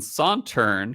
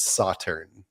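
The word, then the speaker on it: Sauternes: In the intro to the episode, you didn't quite say it right. I was like, oh, we'll get to this, I'm sure. Did I say Sauterne? Yeah, you'd put the A on the end.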